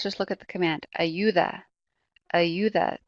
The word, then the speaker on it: ayuda: Ayuda. Ayuda. The emphasis is going to be on that second to last syllable.